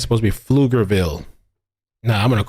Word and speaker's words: Pflugerville: Nobody knows what the hell Pflugerville is. They say the P is silent. You know what? I prefer to pronounce it with the P. I want to pronounce that shit with the P. Pflugerville.